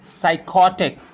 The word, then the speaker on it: psychotic: So I'll show you how to pronounce these words where the P is silent.